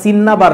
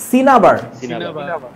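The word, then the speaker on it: cinnabar: সিন্নাবার লেখে এটার উচ্চারণটা সিন্নাবার না। উচ্চারণটা কি? সিনাবার।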